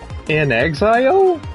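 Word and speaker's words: inXile: by uh uh in in Exile is how you pronounce their their name or their studio in Exile yeah Clockwork Revolution is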